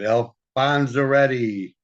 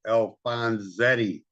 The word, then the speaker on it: Alfonzetti: How do you pronounce the last name? No, not that. The other, Alfonzaretti. No, wait, Alfonzetti. Hi, Alfonzetti. Yeah, there's no R.